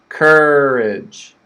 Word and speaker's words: courage: on the word stress the first word is cur that's the stress cur strong cur and then we have the schwa courage courage okay you can see